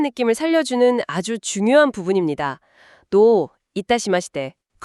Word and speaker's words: どういたしまして: 발음이 노 이따시대 처듬절을 길게 발음하는게 포인트라고 하죠. 네, 맞아요. 그 장음이 정중한 느낌을 살려주는 아주 중요한 부분입니다. 노 이따시대.